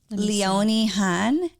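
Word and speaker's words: Leonie Hanne: You say it like this. Leonie Han.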